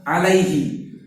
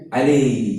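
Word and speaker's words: عليه: tidak ditahsin ini biasanya kalau orang santai bacanya pasti alai alaihi ya kan Alaihi Harusnya harusnya dia jelas lamnya a ynya dia disukun maka alai Lai coba Ikuti saya Lai la Alaihi Alaihi nah seperti itu lanjut sikit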